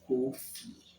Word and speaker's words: Kofi: I think I've misspelled it in the Ashanti way. I think it's Kuofie or Ffi. I can't remember. Because we don't use it. But the pronunciation is Kofi.